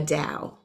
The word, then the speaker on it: Dao: the Chinese Dell the Chinese call it the Dao and some people pronounce it tell that's fine the Dao is